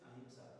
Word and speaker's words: अहिंसा: Simplicity, अहिंसा ना. अहिंसा. अहिंसा. अहिंसा. हाँ, अहिंसा. It's दोनों ही. in English it's ahimsa. In English we pronounce it ahimsa.